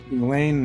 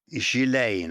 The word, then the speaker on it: Ghislaine: Today's episode, Jeffrey Epstein, whose name is well known, and some of those associated with him, Ghislaine Maxwell and Prince Andrew, one of the many powerful men in Epstein's orbit.